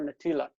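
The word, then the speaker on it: נטילת: Okay, so the accent is on the e here, natilat.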